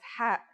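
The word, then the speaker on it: ح: It sounds like the sound you make when trying to cool your mouth and throat after eating something very spicy. The closest English counterpart to the sound is H.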